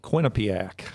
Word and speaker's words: Quinnipiac: All right, it's the QUINNIPLAC University poll. Quinnipiac.